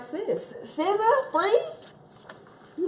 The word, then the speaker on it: SZA: Lionel invites her to the SZA. That's how you pronounce it.